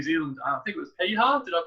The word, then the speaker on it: Piha: I think it was Piha. Did I pronounce that correctly? Yeah, Piha, yeah.